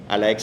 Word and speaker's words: Alaex: Alaex se escribe ALAEX como tal y normal como es mi nombre.